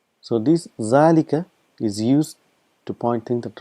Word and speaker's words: ذلك: just reminding you that it is pronounced as zalika but this alif is omitted because of constant usage and it's written as